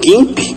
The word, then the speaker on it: GIMP: Nós temos, por exemplo, o GIMP, ou GIMP, né, como alguns costumam pronunciar aí.